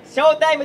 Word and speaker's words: 笑TIME: 笑うに英語でタイムと書いてショータイムと申します。